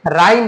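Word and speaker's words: rhyme: एच की भी ध्वनि नहीं आएगी यहाँ, क्योंकि आर के बाद एच हमारा साइलेंट होता है। हमने यह देख लीजिए, ग्रामर हमारा जो रूल है, रूल के अकॉर्डिंग हम एच को यहाँ प्रोनाउंस नहीं करेंगे, बल्कि हम क्या बोलेंगे, राइम बोलेंगे।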